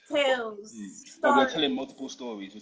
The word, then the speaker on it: TALES: experience so just experience the S is silent exactly a silent s silent s exactly silent s it's Tales we're telling multiple stories